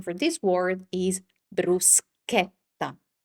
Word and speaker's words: bruschetta: It's never ever sh like it happens many times in English.